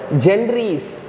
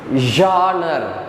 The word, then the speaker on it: genre: have spawned the countless adaptations across multiple genres genre means for example poem novel is a while you are reading you should not read as a gendry's generous not like that so the exact pronunciation